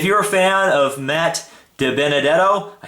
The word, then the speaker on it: DiBenedetto: And if you're a fan of Matt DiBenedetto.